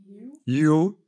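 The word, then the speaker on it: hue: U en anglais, ça se dit You, et You, ça s'écrit aussi H-U-E, ça veut dire teinte.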